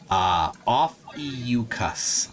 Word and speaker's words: Ophiuchus: PhD Tony gave the pronunciation for that. That's constellation says Ophiuchus.